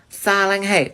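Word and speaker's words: 사랑해: is really good but it's actually selling hey salang hey okay so repeat after me salang hey good job okay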